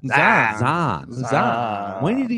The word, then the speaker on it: Zion: Like you just make it one syllable. Zion.